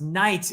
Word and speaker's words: knights: was being standardized so you have words written like k-n-i-g-h-t which Once Upon a Time were actually pronounced and now are pronounced Knights what do we need the k for what do we need the GH for well gee it's too